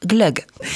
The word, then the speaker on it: glögg: de G au bout et donc ça se prononce Glog et c'est comme ça que le vin chaud